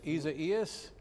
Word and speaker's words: Isaias: I got to find out how to pronounce that. Partner, we called this. Isaias is how you say it.